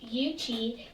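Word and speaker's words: Yuchi: and they see the UT is pronounced youichi and they live in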